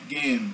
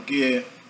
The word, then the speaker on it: gehen: Gehen. Você vai ver que esse H no centro não é pronunciado, tá? O H no final do morfema, que o radical do verbo gehen é ge, né?